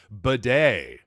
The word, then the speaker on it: Badie: whole lot to batty so far in his career because he said well you know what actually my name is actually pronounced more like bedet huh excuse me what